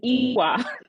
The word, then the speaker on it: Ewa: It is Ewa. Ooh, not Uwa.